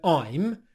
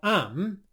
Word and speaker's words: I'm: Ronaldo has pronounced the word I'm, as in I am, I'm, and I as well. And in both scenarios, he's pronounced the I diphthong as more of an A sound. He said what sounds a bit more like am instead of I'm.